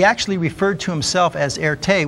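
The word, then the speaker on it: Erté: referred to himself as Erte, which was the French pronunciation of his initials, RT. Erte, RT.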